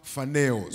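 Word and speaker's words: φανερός: Is phaneros. Inatamkwa phaneros.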